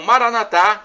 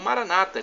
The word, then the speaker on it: Maranatha: a e temos agora a expressão Maranatha como dizemos nós católicos ou Maranata como dizem nossos irmãos separados os evangélicos ou protestantes não importa a pronúncia e é do dialeto